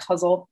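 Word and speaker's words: ghazal: You know, I think in America we say guzzle, but I think the pronunciation is like huzzle.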